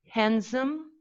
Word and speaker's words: handsome: plosive were dropped yeah so we pronounce handsome handsome and postpone postpone we don't say post postpone we say postpone response it's even hard